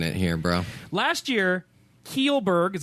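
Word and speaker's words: Kjellberg: yeah you're finding it here bro last year keel Burke is how you say his name you look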